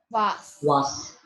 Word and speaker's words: was: But here Was. was not Z. It will be normal Sir. Why? Because there is no vowel after S.